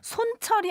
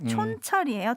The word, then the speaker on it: 촌철: 손철이 아니고 촌철 살인을 날려주시는 여러분들의 애칭입니다. 촌철이에요. 촌철.